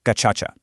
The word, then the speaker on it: Gacaca: First off, it's pronounced gachacha.